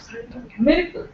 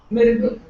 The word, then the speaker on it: miracle: is not stressed Mir Miracle a is very soft very subdued sound Miracle what about this the